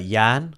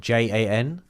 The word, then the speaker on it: Jan: D my my real name is uh Yan, which is spelled J A N.